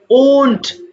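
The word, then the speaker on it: won't: R will not কে আমরা একসাথে ওন্ট বলবো, খেয়াল করো, ওয়ান্ট না, ওন্ট, ও মুখটা গোল হবে, ওন্ট বি এনি হাউস।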